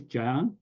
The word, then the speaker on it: Jang: is a Yang so they are usually uh pronouncing jsy so my name is Jang and Jang or whatever you Jang and this